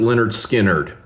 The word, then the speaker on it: Lynyrd Skynyrd: So therefore, heads is Led Zeppelin for tails is pronounced Leonard Skinnard.